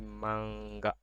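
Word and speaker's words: まんが: maksudnya akhi tahun huruf N dibaca Eng jika setelahnya terdapat huruf A atau G contoh sangka in nya jadi Eng sangka-sangka itunya bergabung atau join sangka jadi ini n nya jadi engsang juga ini bacanya jadi mangga mangga artinya komik Jadi selain aturan di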